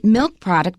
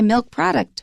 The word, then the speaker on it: milk product: First of all, milk and product are both nouns, so it is a compound. We don't say milk product, we say milk product.